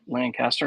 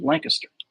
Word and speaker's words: Lancaster: seven Austin Lancaster so his last name was pronounced like the city in Pennsylvania Lancaster not the one in South Carolina which is Lancaster people want to know